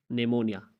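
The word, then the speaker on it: pneumonia: तो तीसरा जो खामोश हर्फ है वो, अगर किसी लफ्ज़ में एन या एस से पहले पी आता है तो पी हमेशा साइलेंट रहता है, एन या एस से पहले। जैसे आप कहते हैं नेमोनिया, नेमोनिया में आप देख लें कि एन से पहले पी आया हुआ है तो यहाँ पे साइलेंट होगा।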